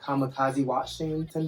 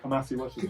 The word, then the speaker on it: Kamasi Washington: Kamikaze Washington, the saxophone player. Kamasi Washington.